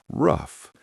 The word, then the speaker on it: ruff: Ruff, pronounced rough, are native to Europe and Asia.